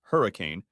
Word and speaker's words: Henry Can: To top it off, the Moody Center was hosting a Florida-Georgia Line concert, and Henry Can, pronounced Hurricane, had 2 front-row tickets to the show for him and his wife Melanie.